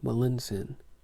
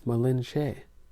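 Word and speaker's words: Malintzin: woman who called herself Melinsin. But even her consort Cortez invariably mispronounced that assumed name as Malinche.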